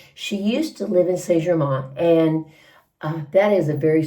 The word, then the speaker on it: Saint-Germain: And Saint-Germain. I don't pronounce the N.